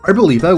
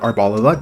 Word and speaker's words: Arboliva: Arboliva, which is not pronounced Arboliva despite being an olive tree, has a bit of an interesting one here.